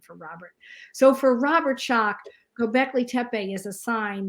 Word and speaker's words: Schoch: As far as Robert Schoch is how you say that.